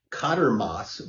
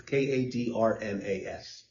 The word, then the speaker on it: Kadrmas: The case of Kadermas versus Dickinson Public Schools. I'm not certain I'm pronouncing the first name correctly. It's Kadrmas.